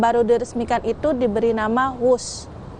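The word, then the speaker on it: Whoosh: diresmikan itu diberi nama wus namun penulisan namanya memang bukan wus melainkan w h oo SH yang merupakan kependekan dari waktu hemat operasional optimal dan sistem hebat meski demikian pelafalannya tetap wus yang menurut KBBI berkaitan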